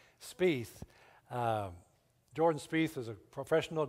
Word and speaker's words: Spieth: Jordan speith I'd ask Tony how do you pronounce his last name Spieth jordan Spieth is a professional golfer of course